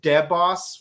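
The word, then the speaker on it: Deboss: guys from cureger like their name is pronounced dead boss which sounds cool but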